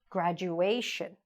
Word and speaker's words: graduation: Graduation. Not on the U, just on the A.